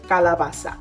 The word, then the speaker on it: calabaza: So Angelica, please tell us how to pronounce it properly. So when referring to Mexican squash, we typically say calabacita or technically calabaza.